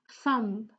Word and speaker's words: thumb: The B is not pronounced here, it's thumb, thumb.